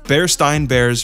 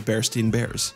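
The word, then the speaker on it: Berenstain Bears: Bernstein Bears versus Bernstein Bears.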